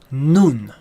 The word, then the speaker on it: nun: now in you in is properly pronounced noon ok noon is a